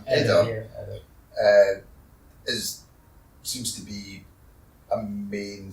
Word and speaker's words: Eder: Eder, what's the proper pronunciation? Eder.